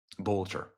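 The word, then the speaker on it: Boelter: Bolcher.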